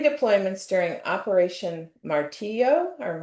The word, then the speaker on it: Martillo: I don't know if they pronounce that a certain way. He did 3 deployments during Operation Martillo or Martillo. Martillo, yep.